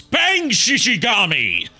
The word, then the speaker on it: Bang Shishigami: Sorry, I said his name wrong. It's Bang Shishigami!